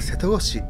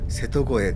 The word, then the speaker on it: 瀬戸越: 思いますところで瀬戸声と言っていますが佐世保の方はせ同市と読む方も多いようですねでも市のウェブサイトによると瀬戸護衛が正確なようですせてこの